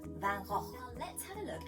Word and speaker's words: Van Gogh: Now, fun fact, lots of people get very confused over how to pronounce his name. Some people say Van Gogh, some people say Van Gogh, but actually the artist is Dutch, and in Dutch we have to pronounce it like this, Van Gogh.